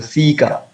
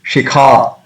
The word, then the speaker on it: shikha: That if after seeing the shikha, somebody will say, "Oh, I pronounce the sika." It does not happen. But once we know it, then we can pronounce it better. It is shikha.